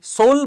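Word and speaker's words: Seoul: তোই সোল বা সিওল মানে নাম বানান সিওল।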